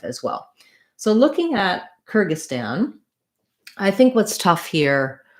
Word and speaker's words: Kyrgyzstan: kerge kyrgy and then even though there's a z and an s we just have the s sound the stan syllable has the ah black cat vowel so it sounds like kyrgyzstan kyrgyzstan now that's how we